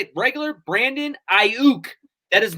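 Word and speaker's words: Aiyuk: y is violent though it's ayuk so i think the y is silent i said why silence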